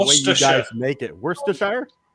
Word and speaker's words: Worcester: Worsters. Yeah. Chov's melted in vinegar. Yeah. But Liam Per, mate worship. We just call it Worcester sauce.